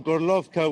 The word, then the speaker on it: Gorlovka: Today I spent most of the day in Horlivka, according to its Ukrainian name, or Gorlovka, which is what all the residents of that city call it. That's the Russian pronunciation.